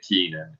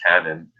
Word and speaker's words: Kenan: Yes, they're not pronouncing it Keenan. It's Kenan.